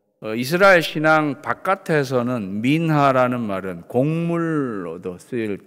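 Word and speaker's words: מנחה: 소제는 히브리어로 민하입니다. 민하. 한국 드라마에 나오는 여자 배우 이름 민하라는 이름이 또 많죠. 그 발음 그대로예요.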